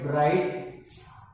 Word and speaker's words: bright: G and H, these are silent. These are especially silent. We don't pronounce it. We pronounce only T. Bright. GH is silent here. We don't pronounce it. Okay.